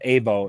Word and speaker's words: AVO: our newer sponsors A V O is how it's spelled AO is how it is pronounced uh we're proud